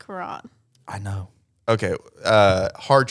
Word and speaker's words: Quran: does hamash read the Quran am I right with that at least the label of the Quan it's purple they don't need to read it I also think it's pronounced Kuran I know okay uh